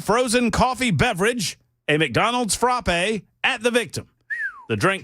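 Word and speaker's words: frappé: Frappe. Frappe. Yes. Like frat with a P.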